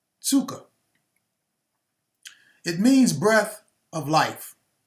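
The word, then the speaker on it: ψυχή: g5590 uh looks like the word psyche it's pronounced tsuka it means breath of life the mind of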